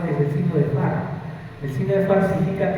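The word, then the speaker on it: Fahr: Inclusive hay un signo radiográfico que es bueno mencionarlo, que es el signo de Farr.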